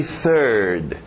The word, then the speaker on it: third: TH de sapo, novamente. Third.